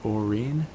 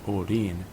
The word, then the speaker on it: Orin: So if you were to pronounce his name in English, it would be Orin, but in Japanese it's Orin. The R is translated as an LDR combination.